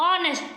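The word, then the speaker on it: honest: अब क्या पढ़ते हैं नेस्ट नहीं हम इसको पढ़ते ऑनेस्ट पढ़ते हैं एच हमारा क्या है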